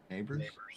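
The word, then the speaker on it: Nabers: then you have the Chargers taking Navers, probably. Right. And then you have probably a trade out. Neighbors. Navers. I'm not good at pronouncing Neighbors.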